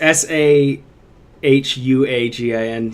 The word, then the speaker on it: Sahuagin: It's S-A-H-A-G-I-N. It's Sahuagin.